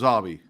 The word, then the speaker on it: Obi: it Obby or was it Obie it was Obby because I thought it was Obie like Obie tce it was spelled Obie it